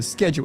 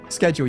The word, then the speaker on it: schedule: schedule isn't followed schedule you should you should pronounce it schedule and I I I get what you're saying we call them schedules um you guys call them schedules I get it tomato tomato um and I appreciate that